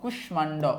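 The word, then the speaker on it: কুষ্মাণ্ড: যাই ম ফলা যুক্ত কতিপয় সংস্কৃত শব্দের উচ্চারণ সংস্কৃত রীতি অনুযায়ী হয়ে থাকে মানে সোজা কথায় যেগুলো হচ্ছে ম ফলাযুক্ত সংস্কৃত তৎসম শব্দ সেগুলার উচ্চারণের কোন পরিবর্তন হয় না যেমন দেখো কুশমান্ড কুষ্মান্ড ওকে কুষ্মান্ড সুস্মিতা সুস্মিতা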